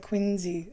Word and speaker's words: Quincy: ballard went to adam's home in quincy they pronounce it quincy i've been there i know and i wish